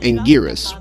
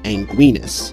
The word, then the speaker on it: Anguirus: Godzilla versus Mecha Godzilla finally used Angirus, which was later trademarked by Tohjo and became his official English name. However, the English dub for Godzilla Final Wars pronounces his name as Anguinus.